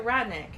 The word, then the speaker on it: Wryneck: So Ryneck. Is it Wryneck? Okay. Because W-R-Y is just rye.